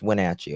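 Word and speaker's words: Wenatchee: Let me see how you pronounce that school. Okay, it's Wachi. Okay, I was making the Wachi school district uh where the girls attended Lincoln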